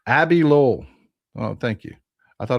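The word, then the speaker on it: Abbe Lowell: It's pronounced Abby Lowell. Oh, thank you. I thought it was Abe Lowell. My bad. Abby Lowell.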